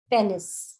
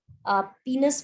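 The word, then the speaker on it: penis: को हम बोलते हैं पेनिस। इसकी स्पेलिंग आपको याद रहे तो आप इसको पीनस भी बोलते हैं, इसकी जो करेक्ट प्रोनाउंसिएशन है, बट आप इसको पेनिस बोलो जिससे आपको इसकी स्पेलिंग याद रहेगी।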